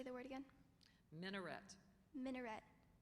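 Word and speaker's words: minaret: by the muin minet are there any alternate pronunciations no there are not could you say the word again minet minet m i n a r e t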